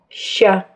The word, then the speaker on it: ща: Имя буквы и согласный звук, который эта буква умеет обозначать, не совпадают. Чтобы назвать букву, нужно произнести ее имя – «ща». Чтобы прочитать букву «ща», надо произнести мягкий звук – «щ».